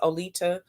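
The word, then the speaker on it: Oleta: is spelled o-l-e-t-a a lot of people mis pronounce my name so i just go by leeda it's olita o-l-e-t-a and my last name is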